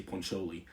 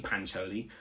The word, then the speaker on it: Pancholi: South African accent but he used to pronounce it like that and then I was like I always used to be like it's actually pancholi and then he would